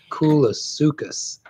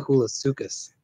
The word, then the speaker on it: Coolasuchus: I had to get a pronunciation guide for this one from Kate. Yeah, she's gone with Coolasuchus. Whoa, cool. Whoa, that's Coolasuchus.